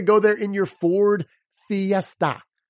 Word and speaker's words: Fiesta: your Ford Fiesta right fee f-i Phi esta right there Fiesta which of course if you've ever seen the Ford Fiesta that is quite a little party on four wheels right that eye is making the long e sound right and then that